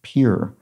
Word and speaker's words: Pierre: then laura sexton says it's pronounced pure by the locals so pure south dakota so there we go